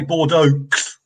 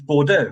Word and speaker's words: Bordeaux: reading it is to ignore the last letter because they never pronounced the last letter most of the time Bordeaux Mero yeah yeah Bordeaux ends in an next you don't say Bordeaux do you it's bordo